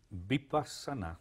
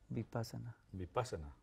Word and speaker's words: Vipassana: Muy bien, Vipassana, yo lo pronuncio así, ¿cómo lo pronuncia usted? Vipassana. Vipassana.